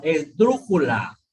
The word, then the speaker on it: esdrújula: Por ejemplo, esdrújula. Esdrújula es esdrújula. ¿Sí? Por eso tilda en la U.